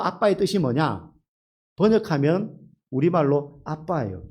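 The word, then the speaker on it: אבא: 뜻이 뭐냐 번역하면 우리말로 아빠예요 또 너무 공교롭게 예 아람의 아빠가 우리 말의 아빠와 똑같아요 발음도 똑같고 뜻도 똑같아요 하나님 예수님이 아버지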